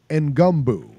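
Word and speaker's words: Ngumba: Ngumbu. That's his name, and that's how they pronounce it.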